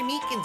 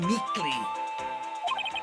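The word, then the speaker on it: Meekins: Actually, Officer Meakans at the detent center told us. Oh, that little doggy. I keep getting his name wrong and calling him Meekly.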